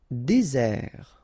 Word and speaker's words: désert: Désert, okay, remember, final T not pronounced, désert, and really this z sound just because you get one S between the two vowels, okay, z, désert.